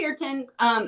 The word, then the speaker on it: kirtan: Is it kirtan? Now I'm not saying it right. Yeah, it's a kirtan.